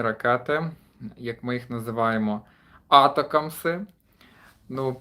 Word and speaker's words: ATACMS: вже також мусив погуглити як вони правильно вимовляються правильно етика якщо Все вірно по транскрипції я знайшов якщо невірно то мене поправте бо я в цьому плані так знаєте так як то кажуть хочеться правильно це вимовляти Ось але найшов що читаєте етикам тому будемо дивитися Чи